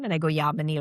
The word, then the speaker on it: Yamini: I always go Yamini, like harmony is my thing.